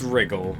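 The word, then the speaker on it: wriggle: Now it's wrigle. You can say it with just the R. Yeah, W is silent effectively.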